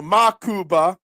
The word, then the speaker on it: Mukuba: Makuba uh and why is it spelled why has it got a U in the beginning Marshon? Good morning to you. It's Muava is how it's spelled. So Makuba. Okay, fine. Makuba.